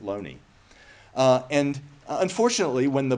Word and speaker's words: Looney: its name his name it's got two o's in it uh so it could be pronounced Looney although my understanding is that he pronounced it Loney uh and unfortunately when